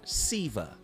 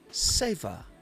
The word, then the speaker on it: seva: And that's how we pronounce it in English, seva. But in Sanskrit, it's sayva.